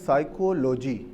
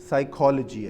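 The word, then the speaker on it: psychology: یا اردو زبان کے، وہ یہ کہتے ہیں کہ دو مرکب جو ورڈ ہیں اس کو ایسے تلفظ کرتے ہیں سائیکولوجی، یعنی مرکب الفاظ کو ملا کے تلفظ کرتے ہیں، جبکہ اس کا صحیح تلفظ سائیکالوجی ہے۔ یہ ایسے ہی ہے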